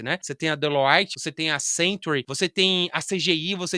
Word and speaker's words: Deloitte: Você tem uma Deloitte, acho que ela é francês, então a pronúncia é Deloite, né? Você tem a Deloite, você tem a Century, você tem a CGI, você tem diversas consultorias que querem você.